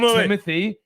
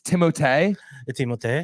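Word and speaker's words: Timothée: I have what movie it's actually not Timothy it's timot OT just so you know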